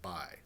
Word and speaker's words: x: or 26 x 2.25 this little x is pronounced by like b y 26 by 2.25 so if you learn